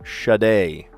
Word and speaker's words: Sade: One named hit singer with 1985 smooth operator, Shade, and it's spelled Sade, but she pronounces it shade.